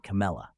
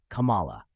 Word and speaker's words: Kamala: pronounced it in various ways, including Kamala and Kamela. Dhillon explains that the correct pronunciation is Kamala, derived from Sanskrit, meaning lotus.